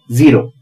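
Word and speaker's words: zero: और वो है जड अमेरिकन इंग्लिश में इसे जी भी कहा जाता है और या जड का प्रोनंसिएशन जी होता है और इससे बनता है ज यानी यह बड़ा महत्व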